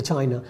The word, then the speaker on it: Qin: have to say that even if you say that chin one like in chinese it's written as q i n that is the chin